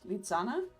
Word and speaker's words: Lisanne: I think in German, my name would be pronounced with a different sounding S, Lisanne.